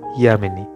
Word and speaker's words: যামিনী: সেই রকমই একটা মাল্টিন্যাশনাল কোম্পানির কলকাতা শাখাতে আমার সঙ্গে আলাপ হয়েছিল উত্তর পশ্চিম ভারতের যামিনীর। আমি যামিনী বললেও ওর উচ্চারণে কিন্তু ইয়ামিনী, আমি ওকে অবশ্য যামিনী বলেই ডাকতাম।